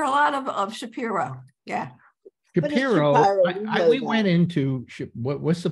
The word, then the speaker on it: Shapiro: Paula, how do we pronounce Shapiro? We pronounce it Shapiro because we knew Judy Shapiro. Yeah. But you hear a lot of Shapiro. Yeah. Shapiro, we went into what's the place in Shapiro?